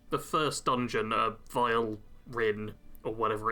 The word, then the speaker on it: Vilverin: Vilverin, that's how it's pronounced.